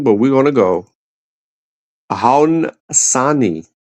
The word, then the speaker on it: Haudenosaunee: we're going to go, Haudenosaunee. Haudenosaunee is the O silent.